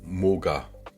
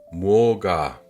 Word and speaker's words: 뭐가: Boga, pour prononcer, et si on veut tricher un petit peu, il suffit de dire moga, comme MO. Moga, 맛있어요. Mais pour être un peu plus exact, il faut dire 뭐가 맛있어요.